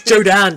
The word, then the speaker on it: Jodan: Jodan! It's Jodan, damn it. The R is silent. There isn't an R.